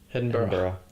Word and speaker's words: Edinburgh: How do I pronounce Edinburgh? Edinburgh.